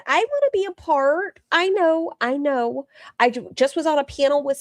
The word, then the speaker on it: Paola: not. I'm not doing that. Wait, your name is, not and I've been calling you. Well, it's Paula. Yeah, it's spelled the same. And I told her that's the gringo version and your name is Italian. It's listen something about